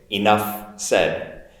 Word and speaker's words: enough said: me enough said okay enough said i'll link that f and s together enough said enough said notice also my intonation on the e enough enough enough said okay everyone enough said